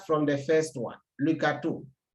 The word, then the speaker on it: gâteau: When you look at the different words here, let's start from the first one, le gâteau. Le gâteau, there's accent on the A, but it keeps the same sound A.